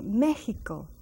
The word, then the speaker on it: Mexico: notice the word Mexico it has an X and it's pronounced as a j meico this is a word